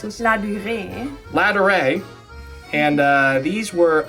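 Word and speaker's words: Ladurée: We went into La Durée, a famous French luxury bakery that was created in 1862.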